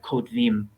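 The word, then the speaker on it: כּוֹתְבִים: In modern pronunciation, in normal everyday speech, it would sound like kotvim, which sounds more like 2 syllables.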